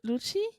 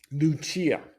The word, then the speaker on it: Lucia: And you say her name is Lucy? Lucia. Yeah. Lucia. Italian. Lucia.